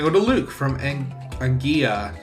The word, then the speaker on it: Anguilla: So, this Skitty is going to go to Luke from Anguilla. It's either Anguilla or Anguilla. Depends on where he is. If it's pronounced as the Y. Like tortilla. Instead of a tortilla.